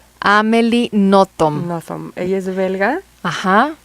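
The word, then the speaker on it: Nothomb: decirnos que es graciosa y con es amely notom amely notom notom ella es belga Ajá escribe en francés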